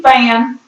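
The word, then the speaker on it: Phan: name is Wendy fan F uh p h an pronounced fan fan and Wendy has a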